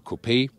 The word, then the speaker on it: coupé: the gle coupe or copay we always say copay because we lean to the french original pronunciation there's also a separate